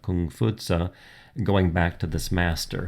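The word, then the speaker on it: 孔夫子: the case of Confucianism confucious the again the Western European pronunciation of kung futa going back to this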